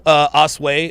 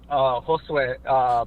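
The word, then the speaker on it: Josué: Well, I appreciate your call, Osway. I'm sorry. How do you pronounce that? Is it Os? Josue. Josue.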